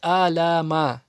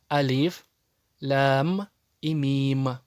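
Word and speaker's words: الم: Многие совершают ошибку и читают аляма. Нет, эти буквы читаются так, как называются они в алфавите. Алиф, лям и мим.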